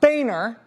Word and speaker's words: Boehner: But if I was going to become not Rachel Ann Maddow, but rather Rachel Ann Boehner, it's pronounced Boehner, the state of Texas for a long time,